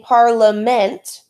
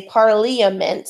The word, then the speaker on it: parliament: Now, I'm not saying parliament, and I will actually just say parliament. That's how I say it in my head, by the way, so I can keep that I in there and spell it.